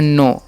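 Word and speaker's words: know: आई ठीक है और आई नो के यहां पर साइलेंट होता है इसलिए हम इसे पढ़ते हैं नो ईट है तो इसे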